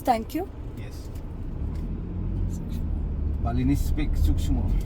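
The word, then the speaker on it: suksma: Balinese speak Sukshmo. Sukshmo.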